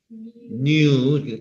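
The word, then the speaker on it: knew: 뉴, K가 발음이 안 나니까.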